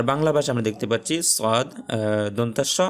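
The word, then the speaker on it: ص: জিহ্বার আগা সামনের নিচের দাঁতের গোড়ার সাথে লাগায়া উচ্চারণ হবে সদ সদ।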